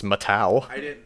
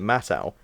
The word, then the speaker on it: Matau: for the longest time but apparently it's matau oh yes it is once again every okay this is the thing right the movie that will get to the second movie that pronounces it Matthau every single pronunciation guide has it listed as matau information that pronunciation consistency